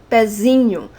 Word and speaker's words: pezinho: So if I have pé, pezinho. And you see why I have to remove the graphic accent? Because now the syllable pé is not the strong syllable of the word. Now it's z, pezinho.